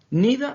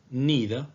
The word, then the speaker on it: neither: careful about this note neither and either can be pronounced in two different ways both of them are correct the word either can be pronounced like either or either the second word neither can be pronounced as